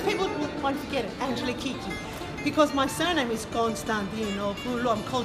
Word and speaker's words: Kiki: How do you pronounce that? Kiki.